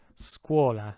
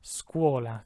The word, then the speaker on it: scuola: it's sk sk has the hard sk sound so for example this first word scuola squala because it's in front of the you scuola second word though because